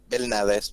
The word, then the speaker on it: Belnades: I'm just Belnades. like, That's how it is. If it is in Spanish, that's how it is. Belnades.